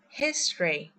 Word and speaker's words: history: In fact, we will skip the vowel as we say history.